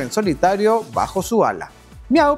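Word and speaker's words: MEOVV: Miau, pronunciado como daría un gatito, Miau en coreano, es el primer grupo femenino lanzado por The Black Label.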